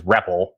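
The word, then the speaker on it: REPL: so uh rep RL commonly uh announced or pronunciated as reppel um a read evaluate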